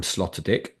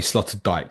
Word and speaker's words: Sloterdijk: So you can get a train from Alkmaar to Amsterdam Sloterdijk. Yes, I said that correctly. Might be Sloterdijk 'cause it's spelled like Van Dyke.